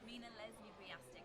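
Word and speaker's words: Mina Leslie-Wujastyk: Tell me, we've been getting your name wrong all day, Mina, or I have. Introduce yourself. Mina Leslie Riastic.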